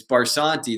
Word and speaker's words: Barsanti: about it in so many years but it's barsanti the funny thing I never heard it ever